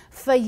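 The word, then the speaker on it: Fage: in recipes one of my favorites is the foie yogurt it's pronounced f-a-g-e but it makes a great substitute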